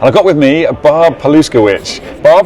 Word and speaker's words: Paluszkiewicz: are all right uh my name is Barbara palowitch So if you're taking notes paloo is spelled the exact way it sounds pitch you